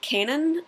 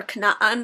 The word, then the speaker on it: Canaan: We were looking at some old myths from Canaan, or Canaan, as he's like, you must say it properly.